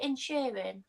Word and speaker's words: Inisherin: How do you pronounce it? Inisherin?